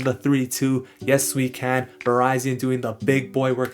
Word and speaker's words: Virizion: the pronunciation of verizon i like to say verizon because that's the way i heard it in these swords of justice movie in which verizon was